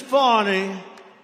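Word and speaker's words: Fani: fonny fny you know fonny spelled f a n my name is fonnie f a n i i don't figure it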